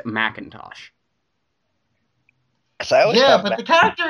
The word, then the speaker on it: McIntosh: of apple that is spelled McIntosh but pronounced Macintosh I yeah but the